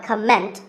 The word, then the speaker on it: comment: many speakers say comment now whether you use this word as a noun or as a verb the first syllable is always calm so it's never a comment it's a comment word number 11 is